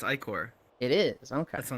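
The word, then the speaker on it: ichor: I think I look at that and I'm like, Icar is right.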